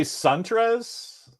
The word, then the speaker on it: Suntres: I say Suntres. I used to say it a weird way, and then he corrected me, and then whatever he corrected, it went into my brain as Suntres.